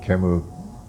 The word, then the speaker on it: Camus: whose name I pronounce Albert Camus. His last name is spelled Camus, but I think as a French name you would pronounce it Camus.